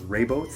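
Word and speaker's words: Rehoboth: am in a town whose name I can't pronounce it's r e h o b o th so raybo I love this little hotel that I'm in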